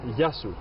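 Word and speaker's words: Γεια σου: Yan, Yasu.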